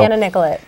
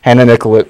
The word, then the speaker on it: Hannah Nicollet: Because I've heard it pronounced both ways. It's so. Hannah Nicollet. Hannah Nicollet.